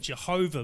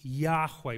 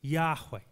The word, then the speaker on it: Yahweh: name his name is yahweh previous generations pronounced it jehovah but it's probably best pronounced yahweh with a y two syllables yahweh it's god's name but